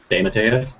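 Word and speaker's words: J. M. DeMatteis: even know how to pronounce his name JM dadus or whatever do you know that Sean how to pronounce his name deas d Matas there you go um so it's a bunch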